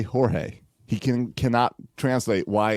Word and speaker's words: Jorge: Owen sees him on TV he goes it's George why does everyone say Jorge he can cannot translate why it's pronounce Jorge and it's spelled George at home